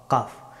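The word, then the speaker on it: ق: ক ক কাফ, কাফ হরফটি উচ্চারিত হয় একেবারে জিহ্বার একেবারে শেষের অংশ থেকে এবং উপরের তালু, এখান থেকে ছোট জিহ্বার কাছ থেকে কাফ হরফটি উচ্চারিত হয়।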